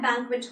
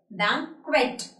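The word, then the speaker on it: banquet: I went to that बैंकट hall for the party. Today there is party in that बैंकट hall. It इज़ बैंकट। बैंकट नॉट बैंकेट।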